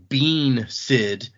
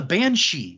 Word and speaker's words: banshee: this one creature that it was spelled like bean Sid and it was so long before I realized, oh, that's a banshee.